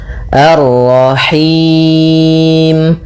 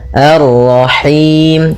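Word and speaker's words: الرحيم: Dia lepas dari yang namanya masuk hidung dan juga lepas dari namanya imalah yaitu harus kasrah sempurna. Arrahim. Arrahim.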